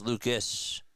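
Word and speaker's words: Lukes: Apparently Luke is pronounced Lucas. Weird spelling. Thanks for telling me. As pitch, that's a foul ball. You're right. It is Lucas.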